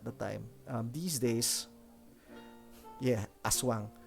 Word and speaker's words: aswang: These days, yeah, Aswang, right? So what was the drawback there? The drawback was that it tended to be pronounced as Ashwang, which is interesting.